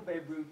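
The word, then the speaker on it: Bierut: Now that's Michael Beruit, pronounced B-E-I, but written B-I-E, just in case you're taking notes. We're very, very happy and proud to have him here.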